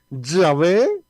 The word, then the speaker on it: Yahvé: Y vamos a seguir con otro nombre que aquí prácticamente hay tres maneras de poderlo pronunciar, de acuerdo, digamos, a los estudios que han hecho grandes biblistas. Y es Jehová de una parte, de otra parte Yahvé y de otra parte Yahweh.